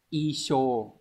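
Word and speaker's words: 衣装: Lưu ý này, phần lớn cái chữ trang này nó đọc là xô nhưng mà riêng trong trường hợp chữ này lại đọc isho.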